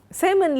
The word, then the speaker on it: salmon: Salmon live in both the Atlantic and see this is a variety of fish and plural for salmon is also salmon. L is silent here.